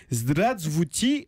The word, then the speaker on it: Здравствуйте: Alors, j'ai cherché pour vous, si en sortant d'ici vous rencontriez un russe, ça se dit Zdravstvuyte. Alors, pour que vous ayez une parfaite connaissance, la bonne prononciation, attendez, j'ai isolé le mot sur internet et on va l'écouter ensemble.